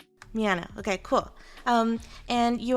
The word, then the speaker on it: Miano: to introduce you dr david miano did i pronounce it correctly with an m miano okay cool um and you are an ancient